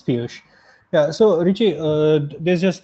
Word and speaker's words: Piyush: Piyush, if I pronounce this correctly. Yeah, Richie. It's Piyush.